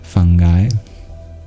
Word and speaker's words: fungi: the correct pronunciation of fungi because it comes from the word sponge and you don't say sponga you say sponge so it's fungi but